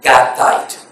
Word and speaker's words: Gittite: housing the ark was Obed Edom the Gittite, or probably the best pronunciation is Gattite.